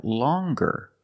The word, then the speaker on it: longer: nasal sound long but then you have longer where we have the hard G sound longer with a nasal sound plus the hard longer and we have